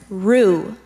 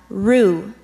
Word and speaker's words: roux: I'll give you the definition the word is rue this rue is a mixture of flour and